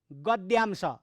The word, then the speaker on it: गद्यांश: अरू उच्चारण हुँदैन, त्यो द र य उच्चारण गर्नुपर्छ भाइ बहिनीहरू। यो चाहिँ द र य मिलेर द्य भएको हो, विद्यालय, द य विद्यालय भने जस्तै।